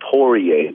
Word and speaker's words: Poirier: Is it Dustin the Diamond Prior? How do you say his name? Last name. Dustin the Diamond Porier.